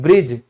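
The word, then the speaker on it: bridge: देखो पुल, तो पुल को हम क्या कहते हैं, ब्रिज, तो यहां क्या डी बोला जाता है, नहीं बोला जाता।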